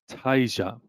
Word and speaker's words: Tasia: Like Fantasia without the fan.